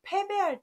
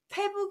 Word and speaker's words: 패배: 되는데요 달아나다 는 말에서 패배할 때 씁니다 북쪽 먹 북쪽 방향으로 관계된 건 다 써서 북극 이라든지 이렇게 쓰시면 되지만 패배 라는 단어 페북 이라고 읽으면 절대 안되는 단어 라는거 유념 하십시오 그다음 6번째